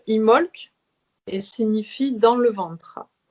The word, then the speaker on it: Imbolc: sa forme simple alors un bolt se prononce imholz et signifie dans le